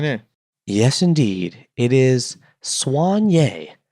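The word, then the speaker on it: soigné: SOI G and E and how do you pronounce it Swan yay Swan yay dressed very elegantly well-groomed that's not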